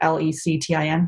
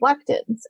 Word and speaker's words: lectin: pain because it's actually the i can never pronounce that word l-e-c-t-i-n lectin yeah so we'll just kind of do